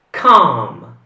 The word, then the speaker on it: calm: questa è calma si un'altra parola dove la l non va pronunciata quindi com e allora l'ultima parola